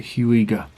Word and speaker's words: Huyghe: tremens by the huger I think I say you pronounce it huger brewery which is based